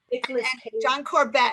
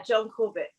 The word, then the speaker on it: Corbett: a puppy dog you know these big yeah john corbett am i pronouncing his night name correctly yes yeah john corbett yeah you know it's a hard it's a